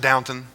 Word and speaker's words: Downton: in this life you get wrapped up in Downton Abbey I know it's pronounced Downton I just refuse to say that does that